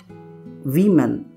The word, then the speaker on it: women: इसको कैसे प्रोनाउंस किया जाए? वीमेन। जी हाँ, वीमेन ऐसे प्रोनाउंस किया जाता है इसको।